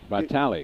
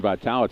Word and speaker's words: Vitali: And the other thing is Isabelle Bali, Vitali, we want to pronunciate her name correctly. saying Vital, it's Vitali.